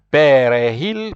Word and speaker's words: perejil: Perejil picado, so J there you pronounce like H, perejil picado finamente.